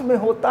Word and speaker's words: mho: अब इसको अगर हम हिंदी में इसका उच्चारण करें तो आधा म होता है, इसके बाद हो होता है, तो इसको हम कह सकते हैं महो।